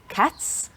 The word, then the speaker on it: cats: cats dogs that's right cats is a voiceless sound it has a s sound at the end you don't feel it here cats but dogs finishes